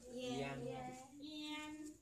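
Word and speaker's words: ian: Nhóm thứ hai này, I, A, N đọc là? Yen. Yen.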